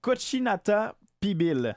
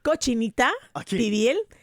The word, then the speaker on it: cochinita pibil: Le cochinata pibil, c'est quoi l'histoire derrière c là ? Bon mais c'est cochinita pibil et cochinita ça va